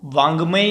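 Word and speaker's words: वाङ्मय: बच्चे है ना यहाँ पे बहुत ही मिस्टेक कर देते हैं कि इसको ड पढ़ते हैं, ये ड नहीं होता, ये अंग होता है। तो वांगमय इसका उच्चारण होता है।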